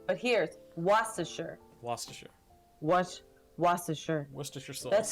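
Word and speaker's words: Worcester: street I used to live on is um pronounced like w r CE it if you would think about it you would say Worchester but here's waser waser was waser was that's how I learned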